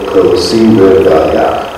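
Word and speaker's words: כוסי רויה: If I could only Kosi Rivaya. I'm going to teach you five syllables. Kosi. Kosi. Rivaya. Rivaya. Literally means my cup runneth over.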